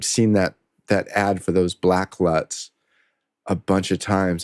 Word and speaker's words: BLVCK: Currently on Instagram, there's an ad I keep seeing pop up, and it's for a LUT package, I think, called Black, but it's spelled BLVCK, I believe.